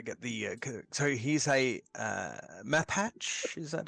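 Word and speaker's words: Mapach: So he's a map hatch.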